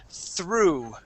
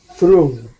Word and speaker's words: through: the word through okay that g at the end the G those are going to be silent okay this word is through through good nice job okay